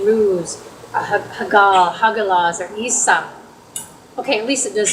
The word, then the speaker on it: Isa: in the Old Norse, it seems like most of the vowels are comparable to Spanish. So if any of you are familiar with Spanish or speak Spanish, that makes it easier. Like Isa is spelled I-S-A, number 11. Isa, right? Isn't that how, a Spanish speaker might say it?